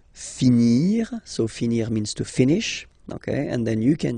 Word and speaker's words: finis: Je finis. Remember, final S is not pronounced. Je finis.